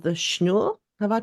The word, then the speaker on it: Schnoor: Not that far from the main square called the Schnur. Have I pronounced that correctly? Um, Yeah. can you describe that part of Bremen to our listeners? Schnoor is the oldest still existing living quarter of Bremen.